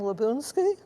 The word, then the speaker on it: Labounsky: My name is Labounsky. Many people mispronounce it, but now you know how it's supposed to be pronounced.